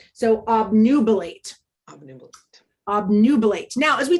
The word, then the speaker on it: obnubilate: This is a long A sound because this E is here to help the A represent its name. So obnubilate.